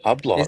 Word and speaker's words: Hublot: Is Hublot. it? Wow. Nah, it's not pronounced like He's that. just It's a silent H.